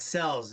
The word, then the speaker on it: Selz: well there you go people mispronounce my last name all the time sells it's really easy to do guys SEL Z follow them on Twitter